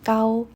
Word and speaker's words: kaw: it up online, and the pronunciation is similar to "Gao," which means rich or thick This will be my